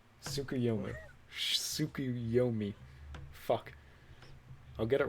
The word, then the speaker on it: Tsukuyomi: I have to look at your fucking thing because I don't remember how to pronounce his name, Shane. Give me a second. Shane, what's his name? Tsukuyomi.